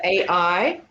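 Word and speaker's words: αι: Au is here the a i a I like I'll yes it's the AI a hi all right so those are the seven that we have so a i as in the word aisle next one is e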